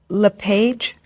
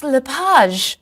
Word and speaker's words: LePage: just a few minutes is your last name pronounced LePage it's lipaj actually oh that's beautiful thank